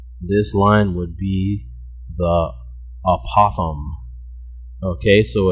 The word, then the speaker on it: apothem: means apopham and p we spell that out apothem not a possum like on the side of the road but no joke a